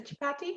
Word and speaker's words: chapati: Is chapati?